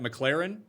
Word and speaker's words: McLaren: makes no sense because they apparently Americans think that McLaren is pronounced like McLaurin do you think that's